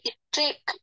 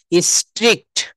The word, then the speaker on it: strict: আচ্ছা, তো দেখেন এখানে বলছি যে লস, লস নাকি স্ট্রিক, STRICT, স্ট্রিক ল, হ্যাঁ, লস। সঠিক উচ্চারণটা হবে, আমাকে যদি স্পষ্টভাবে শুনতে পান তাহলে বুঝতে পারবেন, স্ট্রিক্ট, স্ট্রিক্ট। শেষেটা হবে, শেষে হবে কয় ট, স্ট্রিক্ট।